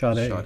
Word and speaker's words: Sade: Sade, that's the one.